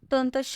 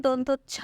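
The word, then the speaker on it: দন্তস্য: পূর্ণা গভীর কণ্ঠে বললেন, আপনাকে দন্তস্ব উচ্চারণ শেখাবো আমি। দন্তচ্ছ উচ্চারণ আমি পারি। আপনি দন্তস্ব না বলেন, দন্তচ্ছ বলেন। শুনতে ভালো লাগে না, বলুন দন্তস্ব।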